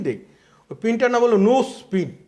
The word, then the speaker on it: Knowles: ওই পিনটার নাম হলো নোজ পিন, নোজ পিন। আমি আপনাদের আবার উচ্চারণটা বলছি, ওটার নাম হচ্ছে nose pin, KNOWLES, nose pin, KNOWLES, no spin.